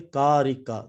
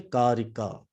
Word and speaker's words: Karika: Okay, Karika. That's how you pronounce it. Sankhya Karika.